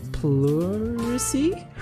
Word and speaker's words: pleurisy: I got a normal chest cold and ended up with pneumonia and pleurisy?